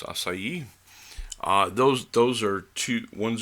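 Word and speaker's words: açaí: which people still pronounce quinoa acai some people pronounce akai but it's acai those those are two ones a grain quinoa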